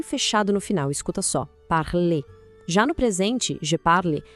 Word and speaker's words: parle: Parle. Já no presente je parle, essa terminação e é muda. O som morre no l, parle. A diferença é sutil, mas crucial.